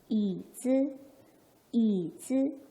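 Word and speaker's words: 椅子: 이거 뭐라고 읽어야죠? 네, E라고 읽어야죠. Y는 I의 소리를 내니까. 자, 높낮이를 잡을 건데 삼성 경성의 단어가 할머니가 있었어요. 할머니 소리 한번 내볼게요. nine, nine, nine, nine. 그렇다면 얘는 어떻게? 이즈, 이즈.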